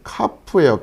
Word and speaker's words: כ: 그 Y 발음에 해당된다 생각하시면 되고요. 자, 그 다음에 카프예요.